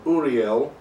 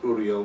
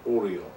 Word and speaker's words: Uriel: archangels rafael mikhail gabriel being very careful to pronounce his name uriel the archangel of the element of earth as opposed to oriel who's one of the various versions of the engine of death the important safety tip there make sure you pronounce uriel not oreo and and if you